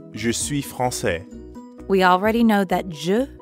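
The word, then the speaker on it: français: instead i'd say frances francaise notice the change in the pronunciation franc says but i'm a man so i'd say francais francais france says now let's hear it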